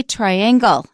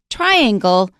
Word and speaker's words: triangle: a triangle right but a lot of people say triangle and that's wrong we don't stress the second syllable we stress the first syllable triangle triangular triangle triangular okay